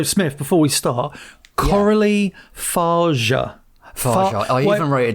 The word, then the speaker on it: Fargeat: So, Smith, before we start, Coralie Fargeat. Fargeat. I even wrote it down. Yeah, it's like far. You kind of ever so slightly emphasise the G. So it's like Fargeat, but it's not.